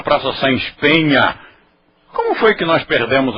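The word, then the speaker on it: Saens Peña: sem espen mas todo mundo nesta útima está pronunciando Praça S pena Ai que feio que cultura vocês não estão vendo queha quando eu era menino todo mundo pronunciava Praça S Penha como foi que nós perdemos a cultura assim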